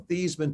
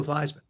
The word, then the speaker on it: Theismann: is we're going to change the pronunciation of your last name from thiesman to theism to ryan with eisen because we think we